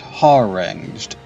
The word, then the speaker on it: harangued: Pronounced harangued.